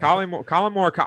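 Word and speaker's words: Collin Morikawa: Colin Morikawa.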